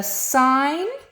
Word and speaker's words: sin: So the sine of theta, remember we use the short form sin, but it's pronounced sine.